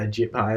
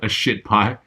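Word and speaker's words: Ajit Pai: Yeah, a JIT pie, isn't it? A shit pie? A shit pie, yeah. That's almost certainly not how to pronounce it, but anyway. A JIT pie. No, it's AJIT pie. P-A-I.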